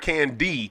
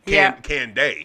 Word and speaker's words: Kandeh: It's like Kandeh. That's what's up. Now you'll remember it. Well, you put Kandeh in there, so when you text it to me, so yeah. I wanted to hear the pronunciation because I just wanted to make sure I got it right. But did I get it right? Kandeh. There it is, Kandeh. Yeah, there it is, not Kandeh. Kandeh.